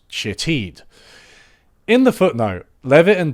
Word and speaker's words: Shithead: had been named Shithead, although it was apparently pronounced Shitheed.